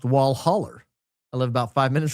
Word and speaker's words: Walhalla: Uh down south Alhalla is Walhalla, pronounced wallholler.